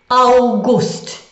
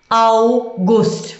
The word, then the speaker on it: August: So Juni, Juli, August, August. We met the word with the Au before in the pronunciation of Frau.